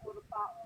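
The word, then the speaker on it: ٱرْكَعُوا: Kira-kira hamzah wasal dibaca fathah, kasroh, atau domah? Doma urka'u ya. Kenapa domah? Kan huruf ketiganya fathah atau doma, dibacanya doma. Ya, jadi kalau huruf ketiganya itu doma, maka dibaca doma.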